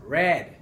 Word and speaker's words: read: Para entrar en contexto este que se ha pasado, se pronuncia red, como color rojo casi.